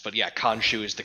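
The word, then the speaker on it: Khonsu: kombat so i just said i think it's cone shoe that's why oh we i i thought it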